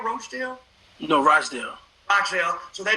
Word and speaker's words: Rochdale: How do you pronounce Rockdale? Rochdale?